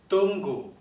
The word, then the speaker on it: tunggu: 听到了，它绝对不是送气的哦，它不用送气，所以不可以念成 permisi，不对哦，也不可以念成 tunggu，也不可以念成 kami。我们听一下正确的发音。